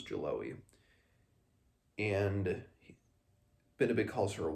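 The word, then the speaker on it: Geloë: I say Jaloe because that's just, I remember how the audiobook pronounced it was Jaloe.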